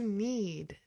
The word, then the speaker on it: knead: To need has the exact pronunciation of the verb need. Need d. So we have k ne a d and n e e d are both verbs that have the exact same pronunciation.